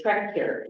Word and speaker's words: Trechter: And I did get the pronunciation of his name, so the CH is a K, it's Trechter.